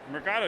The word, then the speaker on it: Mercado: Mercado. You said it right. It's not Mercato. Okay, Mercado.